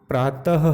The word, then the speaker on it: प्रातः: कैसे बच्चे पढ़ते हैं प्रातः है है तो हमने देखा तो के बाद हर का उच्चारण था तो प्रातः मतलब